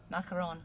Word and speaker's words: macaron: Macaron.